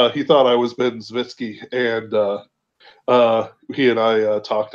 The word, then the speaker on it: Zwicky: Um, I feel like I pronounced that wrong. I think it's Zvitsky. Zvitsky. That's right. That's right. It's the fact that there's like it feels like there should be a VS there and not the C.